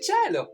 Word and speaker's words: cielo: Si dice cielo. Si scrive C-I-E-L-O.